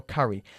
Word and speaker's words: curry: The curry, no se dice curry, sino curry.